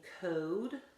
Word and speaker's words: code: it said a thing cod became code oh it says its name and tubby came to